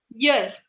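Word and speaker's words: year: कान वाला ईयर इज E sound, but when it इज य, वाई ई ए R, that is य sound.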